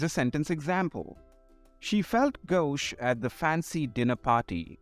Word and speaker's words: gauche: fun today we will learn how to properly pronounce and understand the meaning of two fancy words our first word is gauche gauche this French word refers to someone who is